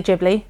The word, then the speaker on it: Ghibli: I know a lot of people say Ghibli. That sounds wrong to me. That sounds like you're saying giblets. I do think that might be the correct way of doing it because of the Is it Japanese pronunciation? However, I'm going to say Ghibli cuz that's how I've always said it and it feels right.